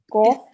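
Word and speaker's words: قاف: It's a thick letter. It will be pronounced from the middle of your throat, and it will be pronounced with your mouth rounded a bit. Okay, so qaf. And with the kasra, we will be trying to round it a bit as well.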